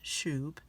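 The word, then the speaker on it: שׁוּב: h7725 the pronunciation guides tells us that it's pronounced Shoop it's spelled s-u-b and then it tells us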